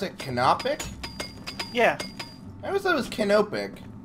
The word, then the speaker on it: canopic: already did it so wait that's how you pronounce it canopic yeah ever so much canopic potato I don't